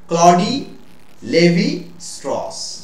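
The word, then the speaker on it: Claude Lévi-Strauss: কি বাবা, একজন অ্যানথ্রোপোলজিস্ট, ভদ্রলোকের নাম হচ্ছে ক্লডি লেভি স্ট্রস, কি নাম, ক্লডি, CLAUDE, ক্লডি বা ক্লড উচ্চারণ করতে পারো, লেভি, LEVI, লেভি স্ট্রস, STRAUSS, তাহলে ক্লডি লেভি স্ট্রস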